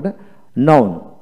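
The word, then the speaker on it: known: এন ই ডব্লিউ নিউ কে এন এর উচ্চারিত হবে না নোন নন এন ও ডব্লিউ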